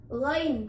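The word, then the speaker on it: غ: Huruf ghain diucapkan halus, tidak seperti huruf G.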